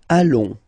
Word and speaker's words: allons: Nous allons. Final S not pronounced, and then when you get this ON combination, you get this nasal on, really in your nose, okay?